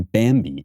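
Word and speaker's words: Bambee: business to hire a full-time hr person then bambi is the place to go it's spelled b-a-m-b-e-e and they're a fantastic service that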